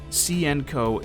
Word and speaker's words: Hsien-Ko: and sienko side note i know the pronunciation of her name varies from source to source but from what i've heard cnco is the most accurate or the closest to being accurate at the very least so that's what i'll